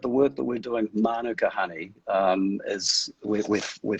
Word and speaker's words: manuka: kind of dangerous okay mark so firstly it's pronounced manuka with the emphasis this is a maori yeah